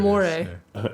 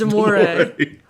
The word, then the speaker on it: Damore: Damore, I don't know if that's how you pronounce his name. Pretty sure it Damore. is, yeah. When the moon hits your eye like a Yeah. big piece of pie. That's Damore.